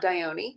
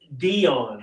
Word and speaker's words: Dionne: How you pronounce it is Dione. Nope, it's not Dione. It's Dionne.